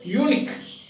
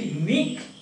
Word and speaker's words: unique: Then technique, oblique, antique, physique, unique. We don't say unique. We say unique. You are a unique person.